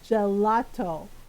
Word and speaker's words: gelato: I was like, it's gelato.